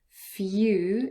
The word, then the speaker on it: few: Few is f-y-u, few.